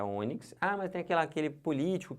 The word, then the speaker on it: ônix: Não é onix, é ônix.